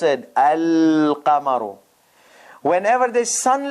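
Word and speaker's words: القمر: Whenever there is moon letter, the lam will be pronounced al-qamaru.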